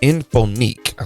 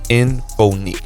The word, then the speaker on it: Inphonik: And this is going to be coming from a company called Inphonik. Okay, let me say that name again. Okay, Inphonik, and it's spelled INPHONIK.